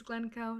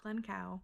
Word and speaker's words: Glencoe: Edinburgh to Gleno, which I don't pronounce correctly in the video, but you'll see later on is Gleno, not Glen Cow.